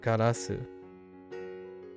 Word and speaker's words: ガラス: ガラス.